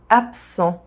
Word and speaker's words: absent: Absent. The rule is that the second consonant modifies the first. So the S sound modifies the B sound and it becomes a P sound.